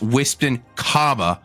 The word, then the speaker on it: Whispton: all to know that I respect you less every time you say my name wrong. I just want you to know that. I actually have a question. First of all, it's Whispton, the Great and Powerful.